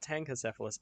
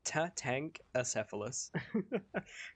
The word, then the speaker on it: Tatankacephalus: I'm not saying it wrong, it's not Tankacephalus, it is Tatankacephalus.